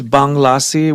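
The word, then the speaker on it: Bhang Lassi: I uh your project is it Bahang Lassi? Is that am I saying it right? Yeah, it started off as Banglassi, which is an Indian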